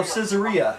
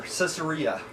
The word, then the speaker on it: Caesarea: Oh, Caesarea. I'm sorry. It's like Caesar, Caesarea.